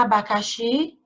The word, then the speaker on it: abacaxi: Qual é a sílaba mais forte de abacaxi? Hein? Ó, vamos chamar de novo. Abacaxi. Então, a sílaba mais forte é a última. É o xi, ó.